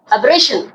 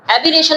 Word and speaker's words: aberration: किस तरह से करेंगे अबेशन एरेशन नहीं बोलना क्यों क्योंकि यहां पर डबल आर है तो आर की आवाज ज्यादा निकालनी है इ की कम तो क्या बोलोगे अबेशन ना के एबिरेशन ठीक है क्या होगा